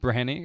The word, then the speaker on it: Breheny: if you find my Instagram which is breny it's pronounced brany but spelled b r h n y uh